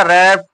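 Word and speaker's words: wrap: यहां क्या पढ़ा जाएगा रप रैप माने लपेटे तो सब में आर से उच्चारण किया जाएगा डब्लू से उच्चारण नहीं किया जाएगा डब्लू क्या होगा साइलेंट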